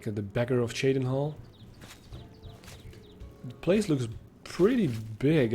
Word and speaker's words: Cheydinhal: of quality in the Shaden Hall Community it's pronounced Shaden Hall all right the count andelle andaris is a